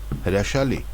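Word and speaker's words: հրաշալի: Hrashali.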